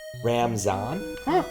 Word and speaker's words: Ramadan: the word Ramadan because in Iran and India it's called pronounced ramzan didn't know about that yeah I definitely always heard it pronounced Ramadan there is a really